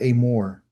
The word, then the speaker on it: Emor: The name of our Torah portion this week, everyone, is called Amore. I know it's spelled emore, but it's really called amore.